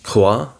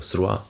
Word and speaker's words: croix: Like croix, which is cross, and in French it is CROIX, and a C is pronounced like a K when it's before consonants, so it's croix instead of sroi.